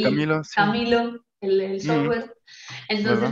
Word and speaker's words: Chamilo: No, se escribe con C, pero la pronunciación es igual. Camilo Ah, Sesto y Camilo, sí. Camilo, el Mm, software.